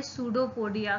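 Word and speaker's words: pseudopodia: तो यहाँ पर आपको एक टर्म दिखाई दे रही है, सूडोपोडिया। सूडोपोडिया में पी साइलेंट होता है इसलिए हम इसको बोलते हैं सूडोपोडिया।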